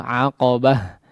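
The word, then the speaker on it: عقبة: Nah, maka ta marbutah ketika kondisinya diwaqafkan ya, menjadi huruf terakhir pada kondisi waqaf, maka dia berubah menjadi ha ya. Seperti ya, atau pengucapannya menjadi ha ya, ha yang besar.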